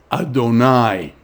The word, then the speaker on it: Adonai: adonai and so the the four letter name of god is always pronounced as adonai so you will see